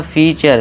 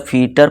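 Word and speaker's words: feature: अब देखिए दोस्तों अब कुछ स्टूडेंट बोलेंगे सर ये कल्चर क्यों है? यहां टर होना चाहिए था। अब यहां कुछ दोस्त कहेंगे कल्टर होना चाहिए था फीटर पढ़ेंगे इस तरह इसे फ्यूटरे पढ़ेंगे नटुरे पढ़ेंगे फ्रैक्टर पढ़ेंगे पोस्टोर पढ़ेंगे लेकिन दोस्तों ये गलत हो जाएगा ठीक है दोस्तों अगर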